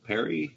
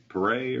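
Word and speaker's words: Paré: Was not impressed with Michael Perry or Pare or Michael Parr, however you pronounce his name. Pare with a little check on it.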